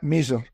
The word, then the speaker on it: Misr: Yeah, Misr. Usually, if you spell it in English, it's usually M-I-S-R.